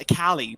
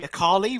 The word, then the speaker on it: Akali: basically in cali's law she's actually pronounced a cali but uh some people have adopted it to be icarly which is incorrect uh yeah very interesting